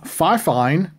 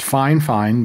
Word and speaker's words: Fifine: got a new product in the mail from five fine now they say their brand name is pronounced fine fine but I don't think there's quite enough letters